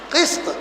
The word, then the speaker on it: قسط: قسط قاف کے کسرے اور سین کے سکون کے ساتھ عدل ہے، اور قسط قاف کے فتح اور سین کے سکون کے ساتھ یہ کیا ہے؟